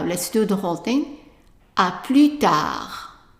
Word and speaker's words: tard: À plus tard. And notice where I'm putting the stress. À plus tard. So, tard. À plus tard. Very good.